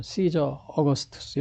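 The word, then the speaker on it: Caesar Augustus: 영어 발음은 시저 어거스투스 이렇게 돼요. 시저 어거스투스 이렇게요. 아우구스투스.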